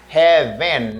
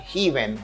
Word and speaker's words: heaven: And this word, as you can see it here, we say heaven, not heaven. Anpil moun répéter heaven. But the word is pronounced like heaven.